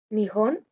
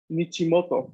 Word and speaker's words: 日本: En el caso, por ejemplo, aquí, y nosotros sabemos que se lee Nihon claramente porque tenemos, ¿cómo se dice? La ayuda, ¿no? De saber que el país es así, Nihon, ¿no? Pero también porque ese es un contexto específico, o sea, no podríamos leer Nichimoto esto, ¿no?